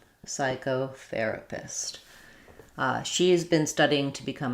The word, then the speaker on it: psychotherapist: Letters CH say the K sound, and then we have an O. So it'd be like psycho. Psychotherapist.